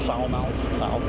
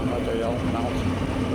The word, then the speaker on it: Falmouth: But in any case, we kept calling it Foulmouth, F-A-L, mouth. It's Falmouth.